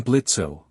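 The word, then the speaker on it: Blitzø: I'm Blitzo. The O is silent and I'm the founder of IMP.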